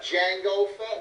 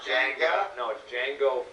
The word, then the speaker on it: Jango Fett: we did get his dad uh jango fett jango fett not jenga you get incredible cgs you get all that